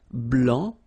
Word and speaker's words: blanc: form here okay so here masculine BL don't pronounce the final C and then Blan okay